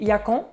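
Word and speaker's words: yacón: de Yakon en CO quand je suis parti au Pérou cet été il disait yacan mais moi je prononce on va dire à l'amériicaine c'est yacon pour moi d'accord yacon en tout cas il y a pas vraiment de règles donc voilà j'essaie de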